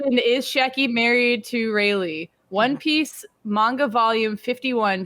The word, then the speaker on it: Rayleigh: Raleigh. Rayleigh.